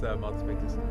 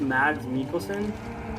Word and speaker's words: Mads Mikkelsen: This is Mats Mikkelsen, right? The Danish. Yeah. It's pronounced Mads Mikkelsen?